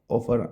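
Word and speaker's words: often: और जहां ये जो ऑफन ऑफन आ जाए ना इनमें टी साइलेंट होता है।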